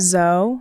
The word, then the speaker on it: Zoe: Zoe? Yeah. How is it spelled? It's spelled Z-O-E, but it's pronounced Zoe.